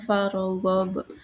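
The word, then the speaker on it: فَارْغَبْ: Lalu ada kata farghob, itu hukum tajwidnya qalqalah kubro karena huruf qalqalah berharokat sukun berada di akhir kalimat, cara bacanya dipantulkan keras.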